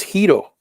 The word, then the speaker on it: gyros: But rather than calling them gyros, the way he pronounced it is Hito. Hito. So, and all his, well, those guys were Cuban. The guys that worked for him and stuff, they all pronounce it the same way, the Latin version, which is Hito, Hito, Hito, Hito.